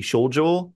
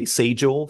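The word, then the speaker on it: 清浄: In the Japanese context, the old pronunciation of the old kanji would be shojo. I think in modern Japanese, they tend to say seijo for the same kanji.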